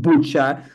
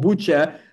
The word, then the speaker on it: Bucha: And even in Bucha, the whole thing was made up, especially in town Bucha, because the Bucha word sounds like butcher.